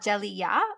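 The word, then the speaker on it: Djeliya: and one review on goodreads uh it's called jelly yeah which is spelt d-j-e-l-i-y-a and it is a graphic novel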